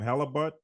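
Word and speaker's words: Haliburton: How do you pronounce his name? Halliburton.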